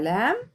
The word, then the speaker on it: lamb: هنا بقول a lamb وهنا ما بنطقش البي فبقول a lamb.